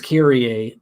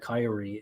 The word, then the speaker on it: Kyrie: It's Greek. It's Kyrie, but most readers call it Kyrie, and who am I to correct the readers?